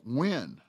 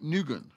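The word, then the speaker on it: Nguyên: looking on your screen you see in Guin that is pronounced when not nugen and that is or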